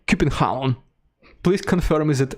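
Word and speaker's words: København: So, in Russian, we say Copenhagen. In English, it is Copenhagen. But the way you properly say it, and of course I am not Danish, so I will not say it properly, but the way you're supposed to say it in Danish is Copenhagen.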